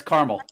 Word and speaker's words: Carmel: part of the area it's like caramel you can go to carmel indiana or carmel california car milk yeah in indiana it's carmel yeah i it's funny